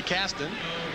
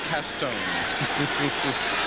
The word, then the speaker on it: Caston: and wayne uses fonts toby went down in new orleans so to research his family roots and figured out the pr the proper pronunciation of his last name was castone and we'll run with